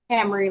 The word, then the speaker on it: Kamari: Is that Kamari? Give me the correct pronunciation. Camry, like the car.